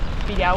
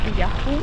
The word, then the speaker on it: Pirahu: Bueno, piraú o piraju, depende quién lo pronuncie.